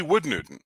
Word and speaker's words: Wold Newton: Probably Wood Newton. And yeah, that's how you pronounce it. Wood, not.